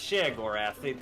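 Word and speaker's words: Sheogorath: Is that if how I it's needed pronounced? someone to say stuff about Elder Scrolls, I would be alive. Yeah, it's Shagorath.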